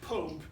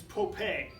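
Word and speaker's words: Popé: P opv now it's not permitting it's not pronounced Pope its Pope a so I had to spell it first to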